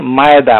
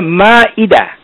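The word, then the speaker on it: المائدة: এখানে আমাদের সবার অবগতির জন্য জানাচ্ছি, আমরা সবাই এই সূরাটাকে বলে থাকি মায়েদা মায়েদা। শুনুন, এই ধরনের উচ্চারণ আরবিতে নেই, এগুলো উর্দু ভাষা থেকে আমাদের সমাজে এসেছে। মায়েদা বলে কোনো শব্দ নেই, এখানে কোনো আইন নাই, এখানে হচ্ছে মিম আলিফ তারপরে হামজা দাল তা মারবুত্তা, উচ্চারণ হবে মা ইদা, মা ইদা, মায়েদা নয়, এ এ বলে কিছু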